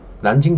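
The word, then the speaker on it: 南京: 샹하이 있어요 존망 가면 난징 이라 그러고 여러분 동네에 남경 중복도 있자 요 남쪽의 수도 남경을 중국어로 난징 이라고 읽어요 그래서 자 난징 조약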